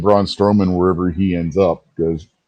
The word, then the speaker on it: Braun Strowman: Braun Strowman.